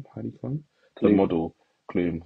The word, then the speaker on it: Klum: model, Klum. Why don't I say Klum? Not Heidi Clum. Klum, and it's spelled like Klum.